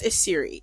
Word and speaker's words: Esiri: all my name is ashiri it's not that difficult to pronounce I'm ethnically Nigerian so having the name is Siri is very very simple to say I'm not gonna lie